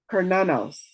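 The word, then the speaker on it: Cernunnos: Oh, look, it tells you how to say it. Pronounced Kernanos. Kernanos.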